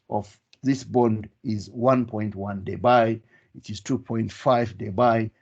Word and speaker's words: debye: moment is measured in unit of debye t pronounced as debye so we can say the dipole moment of this bond is 1.1 day by it is 2.5 they buy etc so let